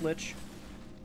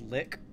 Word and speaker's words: Lich: Thanks for the help, Lich. Every now and then I hear people pronounce it as lick, and I'm just like, go fuck yourselves. That's not how that works.